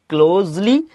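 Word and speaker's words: closely: ঠিক আছে, এটা কিন্তু বিভিন্ন জন বিভিন্নভাবে উচ্চারণ করে, কেউ কেউ বলে ক্লোজলি, কিন্তু এটার উচ্চারণ হবে কি ক্লোজ। ঠিক আছে, এই যে ক্লোজ, এই যে দন্তসা উচ্চারণ হবে।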